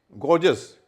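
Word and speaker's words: gorgeous: गॉर्जस, ये एक और शब्द है, जी ओ आर, जी ओ यू एस, पहले जी का उच्चारण ग हो रहा है, अगले का ज हो रहा है, क्योंकि उसका ई है।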